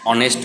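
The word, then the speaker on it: honest: যেমন an hour, an অনেস্ট man, honourable man, এগুলো সব এইচ দিয়ে শুরু, কিন্তু উচ্চারণটা অ বা আয়ের মতো।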